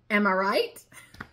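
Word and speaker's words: amirite: It is A-M-I-R-I-T-E, and it is pronounced. Am I right?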